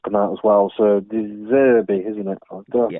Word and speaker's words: De Zerbi: So De Zerbi, isn't it? Did I pronounce that right? He's the manager? De Zerbi, yeah.